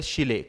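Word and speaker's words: Scheele: Chlorine किसने discover किया, chlorine का डिस्कवरी की Karl विल्वेल्म विल्वेम Willem Willem शिले। Karl Willem शिले, Karl Willem शिले, Karl Willem शिले। यहां पे मैंने आपको प्रोनाउंसिएशन दे दिया है।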